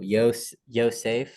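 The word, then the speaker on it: יוֹסֵף: Oh, Yosef.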